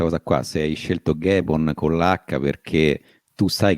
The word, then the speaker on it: Ghemon: cercare le tue cose, mi chiamo Gaemon, e come si scrive? Come lo pronunci? Quindi G-I come no, G-E, no, come lo pronunci? G-H, e niente, quindi sì, ho dovuto fare il facilitatore.